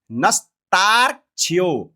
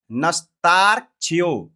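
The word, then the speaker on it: नस्तार्क्ष्यो: वेदा स्वस्ते स्वस्ते नस्ताक्ष्य नस्ताक्ष्य नहीं बोलते है बहुत से आचार्य लोग अभी भी उच्चारण करते हैं नस्ताक्ष्य नस्ताक्ष्य नहीं है स्वस्ति पहले बोलिए स्वस्ति फिर बोलिए नस्तारक्षियो बोलिए दो चार बार इसको बोलिएगा तब उच्चारण सही होगा अभी त्रुटि हो रहा होगा हो सकता है तो आप बोलिए इसको नस्तारक्ष नस्तारक्ष नस्तारक्ष नस्तारक्ष ठीक है इस प्रकार से उच्चारण करना है अरिष्ट नेमह अरिष्ट नेमह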